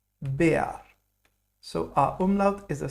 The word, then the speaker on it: Bär: Now, R in German is a strong letter. It's pronounced like AR. So we'll not pronounce this like bear. We'll rather say it Bär.